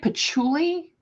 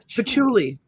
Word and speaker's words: patchouli: stunk like she patchouli yeah and that's how you say it patchouli patchouli i don't think i've